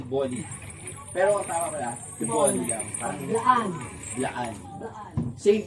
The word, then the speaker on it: T'boli: you when you see that word you always pronounce it as tea bolly parang may accent on tea te bolly pero ang tama pala t bolly lang parangan Laan Laan same principle Yes same